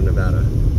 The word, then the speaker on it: Nevada: the state name correctly Nevada Nevada Nevada it's like Nebraska you say it you pronounce it like you do Nebraska but sometimes I still